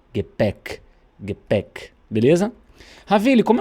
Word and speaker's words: Gepäck: Então essa aqui vai soar é. Gepäck.